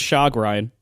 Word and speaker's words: chagrin: It's pronounced chagrin.